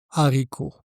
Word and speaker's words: haricot: Attention, pas de liaison. Donc, un haricot.